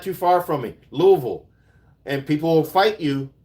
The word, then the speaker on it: Louisville: It is totally Louisville, Kentucky. Hey, you're not too far from me. Louisville.